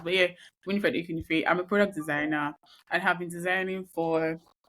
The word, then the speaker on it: Ekwunife: It's not that hard to pronounce, but yeah, Winifred Ekwunife.